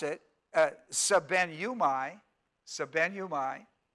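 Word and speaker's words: σβέννυμι: s ven and you mi now when you pronounce it sub nu my sub nu my it's a very it looks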